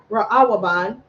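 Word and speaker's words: ראובן: Reuben and he Ru you say Reuben raaban ra and Reuben's name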